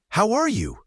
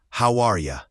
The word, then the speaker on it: how are you: In fast speech, how are you often becomes how are ya, or even how ya. The R is often reduced. It's about connecting the words, not saying each one separately.